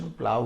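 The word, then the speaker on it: plough: द प्लाव, इसका pronunciation प्लाव होता है, द प्लाव is pulled by two oxen, यह हो जाएगा सेंटेंस।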